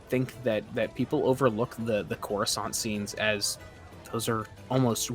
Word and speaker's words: Coruscant: Coruscant.